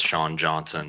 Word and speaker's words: Johnson: I'd just like to start out by clarifying you said it right the first time. It's Sean Johnson.